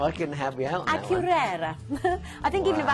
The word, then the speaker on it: Akureyri: Akureyri. I think even if I had, I couldn't remember like how to pronounce it.